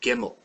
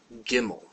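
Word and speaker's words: גימל: our third letter is gimmel gimmel it's a g sound always a g sound and it's always pronounced hard and our word for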